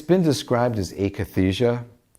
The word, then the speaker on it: akathisia: It's been described as akathisia. It's spelled A-K-A-T-H-I-S-I-A.